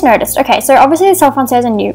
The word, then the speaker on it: Selle Français: I'm saying it wrong. I'm French and like I have French heritage and I'm learning to speak fluent French. So I'm actually seeing some French relatives later today. Anyway, the point is I shouldn't know how to say that. It's Selle Français. That's how you say it.